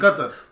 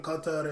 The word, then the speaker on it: Qatar: I'm going to put you on the spot on that pronunciation. Qatar.